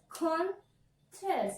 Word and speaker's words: contest: Contest. Let me divide this. Contest. So, I have to stress on syllable number 1 because it is a noun, right?